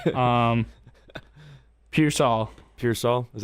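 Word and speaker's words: Pearsall: dad texted me how to say it um piol piol is U piol for the um 49ers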